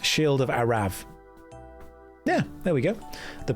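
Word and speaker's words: Arrav: It's actually pronounced shield of Arav.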